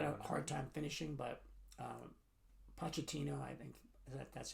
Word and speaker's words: Pochettino: Don't know where Pochettino's.